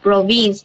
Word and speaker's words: province: When you introduce yourself about the province, you have to say province, the first syllable, not the second syllable. Province, not province, province.